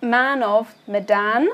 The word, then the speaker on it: Man of Medan: So first off, this is called Man of Medan. Yep. Correct? Yep. Good, pronouncing it correctly.